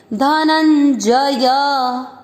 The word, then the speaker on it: धनंजय: उसका मतलब क्या हुआ, आधा न जोड़ना है, धनन, ज य, ज और य दोनों पूरे पूरे अक्षर दोनों में अ का उच्चारण मिक्स करेंगे, धनंजय।